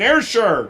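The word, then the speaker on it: Ayrshire: still on the arshar how do you say that Isha Asher air sure coaster Scotland which is on the west coast I'm getting it Gordon air sure awesome well he grew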